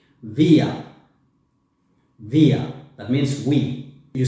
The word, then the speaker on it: wir: When you want to talk about we, you say wir. Wir. Wir. That means we. You see, it's written W, but the pronunciation is like a V.